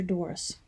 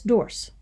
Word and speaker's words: Doris: Doris and I had kind of had a rocky relationship. Instead of pronouncing her name Doris, I pronounced it as Dorse, so that it would rhyme with horse.